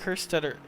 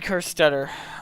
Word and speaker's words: Kerstetter: behind uh behind eric her stutter god sorry uh ed but i keep saying your name wrong because i'm because i'm silly yes ed kerstetter um so uh there should